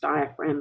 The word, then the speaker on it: diaphragm: tissue called the diaphragm, which is pronounced diaphragm and spelled diaphragm.